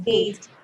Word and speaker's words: gait: The word is gate. Yes, it's gate. Okay. Gate. Oh. Gate. Say pronounced exactly like gate. The gate that we close in our homes.